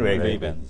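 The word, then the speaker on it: Ray-Ban: 아무리 쫓아가더라도 실망이래 라이방 그러니까. 정확한 발음은 레이비엔이거든요. 레이비엔.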